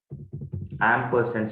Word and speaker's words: ampersand: separated by this symbol many people pronounce it wrong this is called as ampersand symbol key value okay